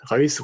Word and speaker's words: Reus: Reus, voilà, c'est beaucoup. Merci beaucoup. Au cas où, si tu t'hésites sur la prononciation, tu penses à Rolls-Royce.